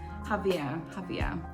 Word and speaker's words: Xavier: How do we pronounce this name? Chapter 2. Xavier. I love the voices. Javier.